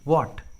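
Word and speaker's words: what: है तो H silent होता है, एच का उच्चारण नहीं करते। For example व्हाट, when, why, where, देखिए चारों इंग्लिश वर्ड्स में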